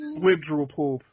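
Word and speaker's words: Blibdoolpoolp: Blib-drool poop. That's how her name is pronounced.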